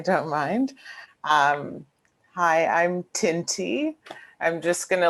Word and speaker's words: Tinthi: mind um hi i'm tinty i'm just gonna let everyone know that the h is silent um so it's just